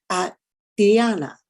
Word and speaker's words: Adriana: You know, a good trick for that is to pretend the R is a D. So I have a friend named Mari, Mari. So if you can't roll your R's, and you can practice, take time to practice. Mari. So if you can't roll your R's, pretend like it's a D. The same way with Adriana. If you can't go Adriana, you can pretend it's a D, Adriana.